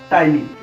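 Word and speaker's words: ptyalin: ये पी से शुरू होता है, पी साइलेंट है, टाइलिन।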